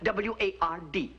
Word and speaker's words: Ward: to me you see i pronounce my name w-a-r-d w-a-r-d ward ward yes i am